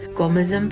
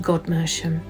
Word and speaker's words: Godmersham: to her brother's estate, Gomersham Park, today poshly pronounced Godmersham, which is featured behind